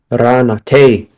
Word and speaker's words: Ranate: Ranate. Rhymes with run away.